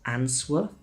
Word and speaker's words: answer: The W in the middle is completely silent. It's not answer, it's answer. Silent T.